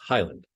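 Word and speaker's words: HYLND: for example the spelling of h-y-l-n-d departure is pronounced Highland the stars on the board are locations of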